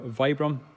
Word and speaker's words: Vibram: So they're using the Virbam sole, or Vibram, we pronounce it different ways.